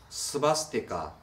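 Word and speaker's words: स्वस्तिक: 산스크리트어로는 뭐라고 읽는가 하면 바로 스바스티카 혹은 슈리비치라고 읽습니다.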